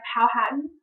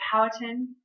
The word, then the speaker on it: Powhatan: Native Americans ruled by Powhatan, or Powhatan, you can hear it pronounced multiple ways, had lived in the area of Virginia that had been colonized by the Jamestown settlers.